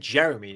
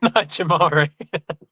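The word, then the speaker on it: Jamaree: I think it's Jamari. That's What did I say? You said Jeremy, didn't you? No. Jamari.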